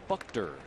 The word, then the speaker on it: Buchter: We are now told it's pronounced Buchter.